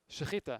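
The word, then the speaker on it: שחיטה: The question is, why don't fish need, and this is pronounced? Shechita.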